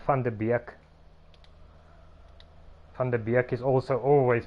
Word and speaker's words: Van de Beek: And I know this also because, like, Van de Beek is also always pronounced wrong.